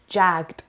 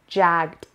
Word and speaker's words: jagged: Jagged. It's not jagged. It's jagged. It's jagged. این دوتای آخر به این صورت تلفظ میشه بچه، دوتا حرف آخر. Jagged. Jagged. And the stress is on the first syllable.